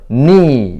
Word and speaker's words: knee: 이거는 묵음 규칙인데 여기하고 똑같이 K가 묵음입니다. 그래서 미리 예습 차원에서 이렇게 설명이 되고 있다는 거. 이것도 충분히 학생을 지도할 때 설명을 하고 지도를 하고 있습니다. 그래서 knee 이렇게 한글로 쓰면 되고 발음도 그렇게 지도를 하면은 도움이 되겠습니다.